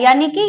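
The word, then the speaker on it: unique: अब यूनिक जो ये यू है, ये वाई यू का साउंड दे रहा है, यानी कि ये यूनिक बुक।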